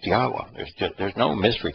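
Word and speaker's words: Yahweh: you find is that a yod he wah he it' be pronounced yahwa there's just there's no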